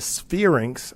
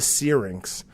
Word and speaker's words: syrinx: from time to time I refer to this organ as the sphere ynx I have no idea why I want to pronounce it that way but I do and it slips out that way from time to time but it's the syrinx so we talked about